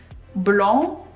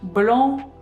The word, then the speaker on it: blanc: Blanc, blanche. Here we have nasal A sound for blanc, blanc.